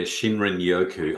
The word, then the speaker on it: shinrin-yoku: Yeah, Shinrin Yoku.